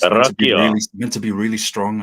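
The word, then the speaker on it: rakija: What is that famous drink I keep hearing about from the Balkans, particularly in Serbian, Bosnia, called Rajika? Is it? Rakia. Yeah, that's it. That's it. It's Rakia.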